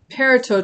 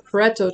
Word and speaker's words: Pareto: before is called a perito chart or pareto chart people pronounce it different ways all right so this